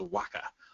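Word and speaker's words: WHCA: communications agency which will be referred to as Waka throughout this whole thing why it's pronounced like that I don't really know on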